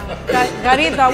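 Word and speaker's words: καρύδα: Karida. What's a karida? Oh, that's a snake. Carida. Oh, okay. It's like car, the car you're driving.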